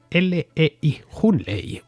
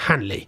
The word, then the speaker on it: Hunley: Handley se escribe Hunley, Hunley, es que pronunciado en condiciones, vamos. Pero bueno, en inglés creo que se pronuncia algo parecido a Handley.